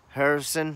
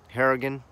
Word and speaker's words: Harrigan: get out of it so there is Lieutenant Harrison am I saying it correctly Harrigan lieutenant Harrigan Glover's figure articulated the problem with